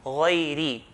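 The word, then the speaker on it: غيرِ: to find out that if a ra has a kasra, then we're going to pronounce it with lightly, okay? Empty mouth. غيري, ri, and not ri, not غيري. Like when ra has a fatha, we pronounce it ra with heaviness, but when it has a kasra, empty mouth, lightly.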